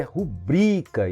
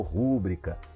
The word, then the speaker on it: rubrica: Algumas palavras também que nós pronunciamos de maneira errada, tá? Com relação à sílaba tônica. Olha, a palavra é rubrica e não rúbrica.